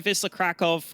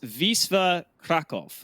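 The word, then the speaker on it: Wisła Kraków: lives in Poland, and he told me it's pronounced, I think he said it's pronounced Wisla Krakow, is what he said. But I'm not good enough to pronounce that properly, so I might just stick with Wisla.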